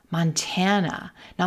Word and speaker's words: Montana: Montana. Now notice that first syllable is not reduced. It's not a schwa. It's a ma, mon, mon, but it's not stressed. We're not going to stretch it.